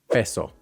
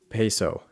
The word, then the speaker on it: peso: So, in Spanish, one vowel always equals one vowel sound. Here's a word that is a great example. Peso. Peso, which an American accent will pronounce as peso.